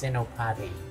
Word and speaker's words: Senopati: I keep making mistakes with pronouncing his name correctly. It's SENOPATI.